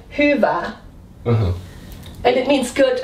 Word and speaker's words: Hyvä: Hyvä. This is like a Hyvä. Like the U with dots. This is in Finnish the same like the U with dots. Okay. So it's hyvä.